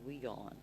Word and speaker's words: WION: feel like you know it should be y on it just sounds it's w i o n okay w i o n you know they pronounce it i mean it's their network and all but they pronounce it as we go on okay i i don't